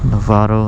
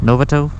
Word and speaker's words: Novato: now it's really hot this is historic downtown Lovato I don't know it's pronounced Novato Lovato oh no no my gloves don't match